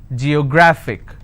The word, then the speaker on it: geographic: yo grah fick and the rule says if i have a word ending with ic i need to stress on the second last syllable so i'll pronounce this as geographic if i have another